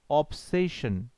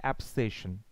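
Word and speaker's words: obsession: এই যে আবেশের ঘোর, আবেশের ঘোরটাকে আমরা এভাবে বলতে পারি যে অ্যান এয়ার অফ অবসেশন। দেখো এটাকে আমরা অবসেশন বলি, বাট আসল উচ্চারণ অ্যাবসেশন।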